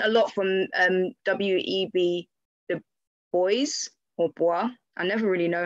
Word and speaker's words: Du Bois: know i've learned a lot from um w.e.b the boys i never really know how to say it boys um like in terms of reconstruction and his